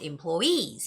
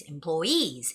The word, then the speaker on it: employees: and the you know people working there are called employees employees and it's very important that you put the stress on the EE there okay so employee orientation